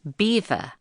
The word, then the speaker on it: Belvoir: The name means beautiful view in French, and the locals, who no doubt took a dim view of this unenglish name, pronounced it beaver, which is how it has been known ever since.